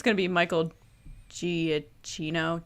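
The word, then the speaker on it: Giacchino: it's gonna be michael giaccino gia kino i always say it wrong i'm so sorry i think it's just i always say wrong i think that's how he says it i think he's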